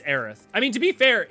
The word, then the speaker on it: Aerith: when seven came out it was eris like that's they localized it incorrectly but it is aerith like eric is correct but that's not even